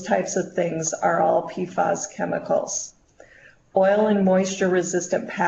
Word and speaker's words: PFAS: And their PFAS stands for per- and polyfluoroalkyl substances. It's pronounced PFAS.